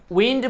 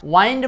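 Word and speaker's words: wind: উইন্ড মানে বাতাস, ওয়াইন্ড মানে ঘোরানো।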